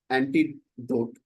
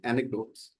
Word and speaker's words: anecdote: And someone mentioned antidote, which is the correct pronunciation could be anecdotes.